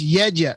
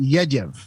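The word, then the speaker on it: Jędrzej: My crazy name is Jedraz. It's Yedyev. It's phonetically it's pronounced Yedyev.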